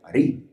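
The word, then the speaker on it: אריה: Por ejemplo, al león le puso rey, ellos no pronuncian la ray. Arií.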